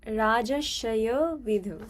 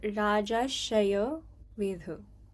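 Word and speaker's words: राजर्षयो विदुः: So like when you pronounce it, like it would like the R would be silent in a way, so it would be like Rajashayo Vidhu. Can you say it? Rajasaya Vidyu.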